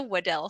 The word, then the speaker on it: Weddell: impressive um it was in fact the waddell seal or weddle seal there's actually fun fact no right way to say it so any way you